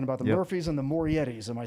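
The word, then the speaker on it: Morettis: We're talking about the Murphys and the Morietis. Am I saying it right? Moretti's, yeah.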